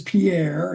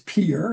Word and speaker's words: Pierre: which, by the way, everybody don't pronounce it as Pierre, it's Pierre if you're local.